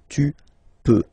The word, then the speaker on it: tu peux: Then tu peux, same pronunciation and same spelling or writing, okay? P-E-U-X, okay? You don't pronounce the final x. Tu peux, okay?